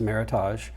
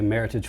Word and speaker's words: Meritage: It's not pronounced Meritage, in spite of that's what most people call it. A Meritage, which is just basically a Bordeaux blend.